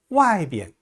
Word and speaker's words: 外边: 비엔자가 원래는 제1성인데요. 지시사라든지 방향을 나타내는 낱말 뒤에 오는 비엔자는 약하게 경성으로 발음합니다. 여기, 이쪽 할 때요. 这边, 저쪽, 那边, 어느 쪽 하면 那边, 안쪽, 里边, 바깥쪽, 外边, 오른쪽, 右边, 왼쪽, 左边 이렇게 발음해요.